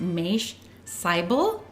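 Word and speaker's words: Mache Seibel: It's pronounced Maish Seibel. And so she started talking about how you can get other health benefits from estrogen if you take it at the right time. So this Maish Seibel, he's, according to the write-up or this description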